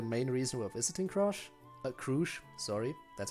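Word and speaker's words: Crusch: Crush, sorry. That's how they pronounce it.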